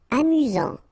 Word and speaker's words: amusant: Amusant. Final T not pronounced. You get only one S here between the vowels, so it's really this Z sound. Amusant. Amusant.